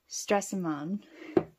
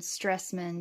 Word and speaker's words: Stresemann: the anthracite black now I'm probably going to be saying suvaron and stressman that's pretty much what all of the Americans say is stressman instead of actually using a correct accent which I'm not really capable of doing so gorgeous packaging absolutely